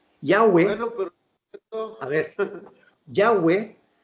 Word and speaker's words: Yahweh: a ver, Yahweh es el nombre, la pronunciación del nombre Jehová en hebreo.